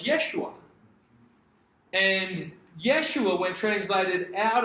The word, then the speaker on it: Yeshua: So, the Hebrew pronunciation of Joshua is Yeshua.